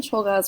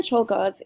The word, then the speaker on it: Czolgosz: And that's Leon Czolgosz right there. I think I'm slightly mispronouncing his name.